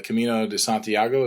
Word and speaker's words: Camino de Santiago: big trail this summer The Camino de Santiago is that how you pronounce it yeah so yeah I